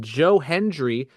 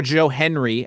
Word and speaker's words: Joe Hendry: It ended up being Joe Hendry, Yes, or Joe Henry, as Michael Cole kept calling him.